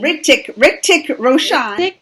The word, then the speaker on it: Hrithik Roshan: Hrithik Roshan.